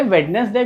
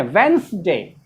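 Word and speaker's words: Wednesday: अरे वेडनेसडे कोई वर्ड होता है, इसको हम लोग क्या पढ़ते हैं, वेंसडे।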